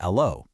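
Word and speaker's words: allô: the new machines, but because the H is silent in French, they naturally pronounced it as allo.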